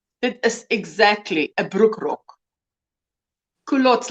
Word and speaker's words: culottes: Culottes.